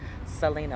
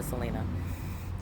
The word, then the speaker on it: Selena: doesn't know my name my name is Selena okay sir Lena Selena like the singer Selena so they say you don't